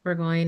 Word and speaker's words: Burgoin: So, um I'm Burggoyne and if you um haven't heard of me